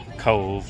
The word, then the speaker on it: Cobh: Alright, so we are on our second stop on our tour today here in Cobh, pronounced Cove, like a cove of an ocean, but it's spelled like Cobh with an H at the end.